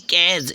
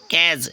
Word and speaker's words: cadge: Next है CADGE, next है CADG कैज, यहाँ पर डी साइलेंट हो गया, याद रखना फ्रेंड्स, कैज, ठीक है।